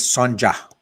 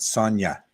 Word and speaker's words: Sonja: got it right okay people think mine is Sanja with the J pronounce not Sona like a y Sonja wasn't that the